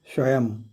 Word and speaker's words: स्वयं: इसका उच्चारण भी म की तरह है, इसको भी स्वयं कहा जाता है।